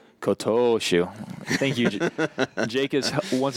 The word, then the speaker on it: Kotoshu: Yeah, the former Ozeki Kotushu, I believe is his name. Kotoshu.